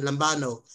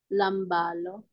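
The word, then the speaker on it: λαμβάνω: ang pinapronounce po siya, kung paano po siya basahin, lambano. Ano po ibig sabihin? Lambalo. Lambalo. Okay. Lambano. Okay. Pinapronounce po kasi yung yung omega ng long. Omega, mahaba. Opo.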